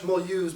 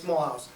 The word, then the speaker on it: Mulhouse: This is a huge train station, and we pronounce it in French Mulhouse, but it's Mulhouse.